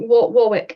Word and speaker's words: Warwick: Yeah, I think Warwick is the common way to say it.